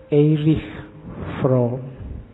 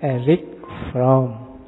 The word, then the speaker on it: Erich Fromm: Kalau bahasa aslinya karena lahir di Jerman. Orang Jerman membacanya irish from. Tapi nanti dia saat sukses hidupnya di Amerika. Orang Amerika membacanya lebih suka pakai Erik. Jadi belakangnya K. Makanya kita membacanya santai aja, gak harus kaku, harus irh. Nanti lidahmu melengker. Biasa aja dibaca Erik from.